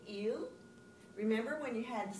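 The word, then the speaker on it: ils: Vous prononcez il et elle la même que le singulier. They're pronounced exactly the same. The S in French is silent. So you want to say il.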